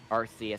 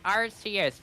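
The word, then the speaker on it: Arceus: really enjoyed Legends arus um rcus I don't know who says it like that like if you say it like that no yeah I always just say arus better yeah yeah I but it's supposed to be arus okay I'm not saying that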